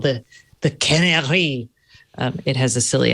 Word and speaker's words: Canary: That's a long A. Yeah, they, Canary. Because there's a lot of other companies with that. Canary. A long A is A.